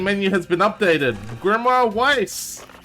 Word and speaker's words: Weiss: has been updated grimoire Weiss or vice I believe it's pronounced I'll kind of the